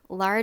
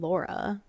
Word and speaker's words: Lara: Well, and it sounds like sometimes they're saying Laura. Just like Laura Laura Jean. Jean instead of Lara Jean.